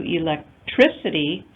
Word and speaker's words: electricity: Electric, stress changes to electricity with the addition of ITY.